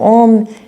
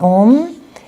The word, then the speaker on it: Om: So Om isn't actually just O-M, it's actually A-U-M.